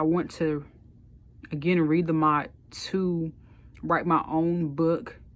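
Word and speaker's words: Maat: I remember I went to learn the Mot. That's spelled M-A''AT.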